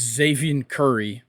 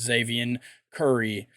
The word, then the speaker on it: Xzavion: But they bring in a younger starting pitcher in I believe it's Xavier Curry. It's spelled XZAVION. I believe that's Xavier Curry.